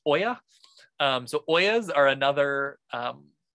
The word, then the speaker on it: olla: conditions in particular so this olla is pronounced oya so oyas are another